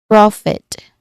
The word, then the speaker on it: profit: So it so it is profit. The vowel sound in the first syllable is key. It's a short open o sound.